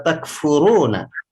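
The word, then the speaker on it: تكفرون: Ra-nya dibaca tafkhim karena berbaris dhammah. Kaifa takfuruna.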